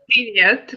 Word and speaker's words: привет: Privyet. Privyet, is that how you say it? Привет, как дела?